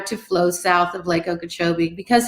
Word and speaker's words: Okeechobee: So your district includes the Caloosahatchee River, parts of Lake Okeechobee. I definitely pronounced that wrong. What was it? The Caloosahatchee River and the Okeechobee Lake. Lake Okeechobee and Caloosahatchee River. Correct.